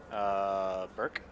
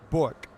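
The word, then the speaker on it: Bourque: Burke? I'm assuming you just mispronounced his name. I'm going to give you a second attempt. Bork? Bork. Yes. Raymond Bork.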